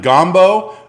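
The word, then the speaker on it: gganbu: shirt my shirt uh this is pronounced uh i believe gombo almost like the word combo and this is like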